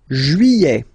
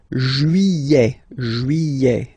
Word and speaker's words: juillet: Juillet. Okay, you get this double L here. Juillet. Don't pronounce this final T, E-T here at the end.